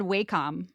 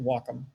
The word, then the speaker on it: Wacom: always in my head I always said waycom I did too for the longest time yeah and I still do on occasion but yeah it's apparently pronounced Wacom okay yeah sure whatever